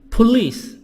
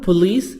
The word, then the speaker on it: police: Police. This word police not police. خلي بالنا الكلمة دي نطقها police in English British و American مش police.